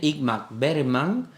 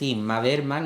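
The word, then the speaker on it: Ingmar Bergman: de igm berman eh Me cuesta trabajo pronunciarlo porque como diga como lo diga como yo hablo es Inma berman y parece que estoy llamando a mi hermana que se llama inmaculada Bueno pues de imma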